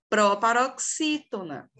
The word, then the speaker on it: proparoxítona: Outra palavra, proparoxítona. Olha como o si, ele é pronunciado de forma mais forte.